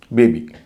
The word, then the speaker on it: baby: बेबी जब बोलते हैं तो ई का उच्चारण उतना लंबा नहीं होता जितना कि बीट में होता है।